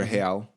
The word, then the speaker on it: real: unit of currency is called a real, which is spelled like real. Oh. It's actually a Portuguese word, real, or real.